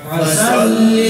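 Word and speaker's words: فَصَلِّ: ফাসাল্লি লিরাব্বিকা ওয়ানহার। এখানে দেখেন ফার আছে সোয়াদ, সোয়াদের উচ্চারণ গোল, এটা ওই তর মতো।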